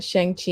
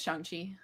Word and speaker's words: Shang-Chi: The Shang-Chi and the Rings.